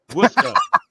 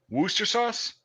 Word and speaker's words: Worcestershire: It's Worcester. Worcester? It's but that fucking word is so much longer. That's how you pronounce it. Worcester sauce? Worcester. No. Well, yeah, the Norwegian O. Worcester sauce. Worcester sauce. That's it. That's how it's pronounced. Yeah. You don't pronounce the Shire. You don't pronounce the Shire either.